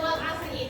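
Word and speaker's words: والعصر: Tapi kalau misalkan kalian mau diberhentikan atau mau diwakafkan, jadi dibacanya wal asr.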